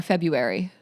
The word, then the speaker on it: February: No, no, you don't pronounce the R. But I almost have a U in there. February.